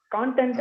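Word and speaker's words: content: அந்த வார்த்தைக்கு ஆக்சுவலா ரெண்டு உச்சரிப்பு, ரெண்டு மீனிங். கான்டென்ட் அப்படி சொன்னாக்கா ஃபால்ட், சாரி கான்டென்ட் அப்படின்னு சொன்னீங்கன்னாக்கா டஃப் மேட்டர் மெட்டீரியல். நீங்க வந்து கண்டென்ட் அப்படி சொன்னீங்கன்னா சந்தோஷம், சாட்டிஸ்பாக்சன் அப்படின்னு அர்த்தம்.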